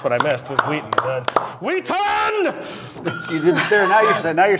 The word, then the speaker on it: Wheaton: wootstout and that's what I missed was weaton weaton there now you're now you're saying it right